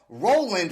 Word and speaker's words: RLND: who's in a band called Roland right but it's spelled r l n d that's right what is